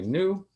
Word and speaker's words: GNU: so we will see you uh uh i pronounce canoe ask new um that's a question obviously your friends knew i'm sure some people say new um and and some people might not say